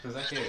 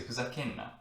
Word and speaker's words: ふざけるな: People would say ふざけんな instead of ふざけるな. But this is how we say it correctly, okay? Instead of るな, we can say んな in a casual, more native way.